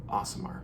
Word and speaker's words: Aasimar: day in which I heard about this race awesomer that's right awesome art and that is how you pronounce that that is straight from Chris Perkins